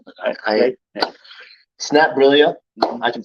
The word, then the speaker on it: Snapbrillia: the base platform of snap brilla it's not brillio it's not brilla it's not brillia it's not brillia like like okay all right it's not phonetically how it said but I I snap brillia I can say that